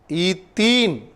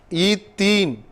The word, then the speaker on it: ethene: While you pronounce also, you may be very keen about that. Otherwise, you may go wrong. Ethane, ethene, ethyne. There are difference in the pronouncing. A-N-E, ethane, ethene, ethyne. Okay.